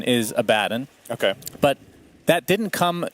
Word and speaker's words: Abaddon: First of all, I understand that the correct pronunciation is Abaddon.